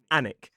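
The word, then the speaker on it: Alnwick: But the pronunciation of this place, two syllables, stress on the first, is an. So it's like we drop the L and we drop the W and we just say an down in Hampshire there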